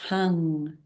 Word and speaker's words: Heng: Heng is the Tao sound power, channeled from the Tao source, Heng. So spelt H-E-N-G, but pronounced like a U-N-G.